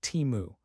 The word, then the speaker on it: Temu: It chose a concise and easy to remember name pronounced like Timu.